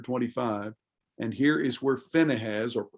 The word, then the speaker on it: Phinehas: And here is where Phinehas, or Pinchas, as it would be pronounced now, Phinehas, the son of Eleazar, the